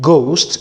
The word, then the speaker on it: ghost: H in this GH, the H here is silent. So we don't pronounce the H whenever we find it. So instead of saying ghost, we don't say ghost.